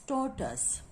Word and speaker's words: tortoise: Okay, and then two syllable is here, tor and tus, and you will look at here, and first syllable is strong in sound or, and second syllable is weak in sound with this nothing and that is a zero sound. So we will put the primary stress on the first syllable on above of the T alphabet.